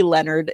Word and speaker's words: Leonard: And we're like, nope, it's literally Leonard. It's not Leonard.